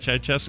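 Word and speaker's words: Ceaușescu: Ceausescu. Is that how you say it? Ceausescu. Yeah.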